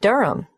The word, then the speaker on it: Durham: at one urunga Street Durham how do you spell Durham d-u-r-h-a-m of course I should know that but it's just one of those names that sounds quite different from the way you spell it it is confusing I've